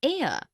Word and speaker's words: heir: an inkpad, also an heir, an honest, an hour. Because the words heir, honest and hour begin with a vowel sound, as the initial consonant H is not pronounced.